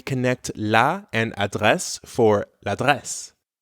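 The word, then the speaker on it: l'adresse: LA and address for La dress La dress French really doesn't like two vowel sounds in a row nope not at all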